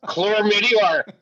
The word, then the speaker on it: chlamydia: of Australians say chlamydia, because they say it like chlamydia, because the Australian accent is like here. There are R's everywhere. Everywhere they can put an R.